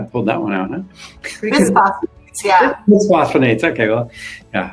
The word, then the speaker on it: bisphosphonates: Bisphosphonates, yeah. Bisphosphonates, okay, well, yeah, I mispronounced it.